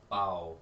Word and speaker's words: Bao: I don't think it's pronounced Boo. I think it's actually Bao, like B-A-O. Bow.